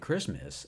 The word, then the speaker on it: Christmas: And Christmas sounds more like a celebration of someone called Chris, though it celebrates a figure known as the Christ.